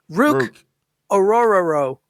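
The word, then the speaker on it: Ruke Orhorhoro: Ruke Ohohoro. Apparently, his parents were eating a sandwich when they told the doctor his name. Ohohoro. Exactly. Apparently, his first name was pronounced Rook Orororo is how you pronounce it.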